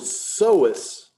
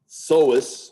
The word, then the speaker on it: psoas: And the word psoas, the P is silent. It's not psoas, psoas.